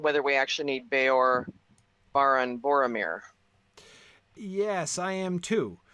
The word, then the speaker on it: Baran: So he says daughter of Beor or Baran, I guess we would say. Baran? Is that how we pronounce it? B-A-R-A-N? Yeah, Baran. Now, Baran.